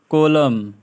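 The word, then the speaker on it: column: होता है ठीक है एम एन दोनों में से एन ही सैलेड होता है जैसे कि इधर atom atom autumn autumn autumn कॉलम autumn कॉलम है ना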